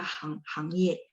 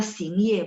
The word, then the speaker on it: 行业: Di sini harus baca hang ye. Nggak bisa xing ye, bukan. Meo xing ye. Nggak ada kosakata xing ye.